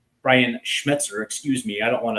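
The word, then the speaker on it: Schmetzer: to be a very good match for Brian Schmezzer. Brian Schmzer, excuse me. I don't want to mispronounce our our coach's name.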